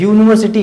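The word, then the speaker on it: university: लेकिन ये गलत है, क्योंकि इसका जो प्रोनाउंसिएशन है वो है यूनिवर्सिटी, यू है इसमें, यू, ये वाला यू है, यू है।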